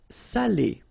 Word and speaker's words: salé: So if you don't put the accent, it means dirty, and then you pronounce it sale, but in that case here, okay, you put the accent, and it's quite important because in that case it means salted, okay?